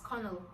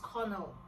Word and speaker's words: colonel: Colonel is another word, and it is pronounced as Cornell. Cornell. Why didn't they just say colonel? Why did they have to complicate things? They literally wasted alphabets. LO is completely silent.